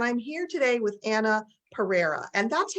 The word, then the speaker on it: Pereira: And I'm here today with Anna Pereira.